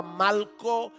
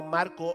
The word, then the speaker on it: Malco: sabemos que se llamaba Malco. Y no estoy pronunciando Marco mal, es que se llamaba Malco con L.